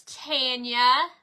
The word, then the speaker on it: Tanya: It says, how do you pronounce your name and how do you spell it? My name is Tanya and it is T-A-N-Y-A, just like yours, only you have an L-A on the front of yours.